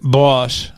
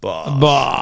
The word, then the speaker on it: Boshhh: Boshhh. Boshhh. You got to say it like that, otherwise it don't count.